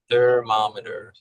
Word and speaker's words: thermometer: Nouns will usually be unvoiced, like theme, Theme, theory, theory, theory, thermometer. thermometer, thermar, thermar, thermometer, That's a tricky thermom, one, isn't it? thermometer, thermometer, Thermometer. thermometer, thermometer, thermometer, Right, thermometer, 4 syllables there.